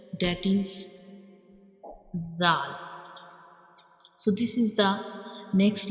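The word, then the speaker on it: ذال: And when we pronounce zal, we will touch the tip of tongue to the edges of upper two front teeth.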